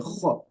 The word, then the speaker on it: خ: The kha here. Although it's sakin, it's silent, but it gets pronounced with an elevated tongue at the back, right?